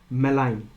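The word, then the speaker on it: malign: अस to health डिलरियस मलाइन ji silent है मलाइन क्या word है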